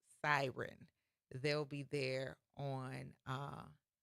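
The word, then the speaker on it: Psiryn: group called Siren, but their name is spelled PSI R Y N, but it's pronounced Siren.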